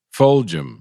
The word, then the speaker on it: Fulgham: Y bueno, todavía se me hace un poco difícil pronunciar su nombre. Fulgham.